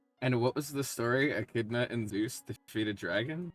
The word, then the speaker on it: Echidna: In Echidna. One more time. ECH. ECH. No, E, just one E. Yeah, ECH. IDNA.